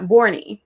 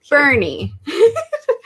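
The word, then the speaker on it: Boerne: visited the city of bernie texas spelled b-o-e-r-n-e we thought it'd be like born born yeah borney no it's bernie and that's actually how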